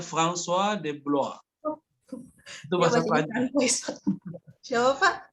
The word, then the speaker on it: François de Blois: Baca itu bukan Francois ya, François. Bacanya François de Blois. Itu bahasa Prancis. Siapa Pak? Bang, pakai jadi R-nya itu mereka baca kayak Roin, François de Blois. François de Blois.